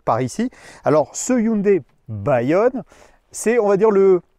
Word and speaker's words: Bayon: puisque ce Hyundai, alors il y en a qui vont prononcer Bayon, c'est pas ça, hein. Hyundai nous dit ça se prononce Bayonne.